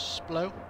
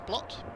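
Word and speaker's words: Splott: us now, pretty much Splow, going from Splow now, or Splot, as the English would say, Splow, but yeah, it's pretty much said as Splot. People always say it wrong.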